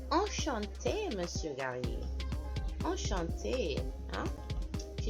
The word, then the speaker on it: enchanté: So the word is normally enchanté with one E at the end, and we're pronouncing this E because it has an accent over it.